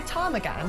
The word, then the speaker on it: ptarmigan: Now, ptarmigan has a silent P like pterodactyl. Oh. It's p t a r m i g a n.